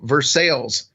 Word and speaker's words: Versailles: I live there is a city that we affectionately call versales and it's Versa and it just drives me crazy that we call it versales that's right it's ver